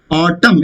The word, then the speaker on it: autumn: Autumn. It is not autumn. M and cluster whenever it is there. Lost N is not pronounced. So N is silent.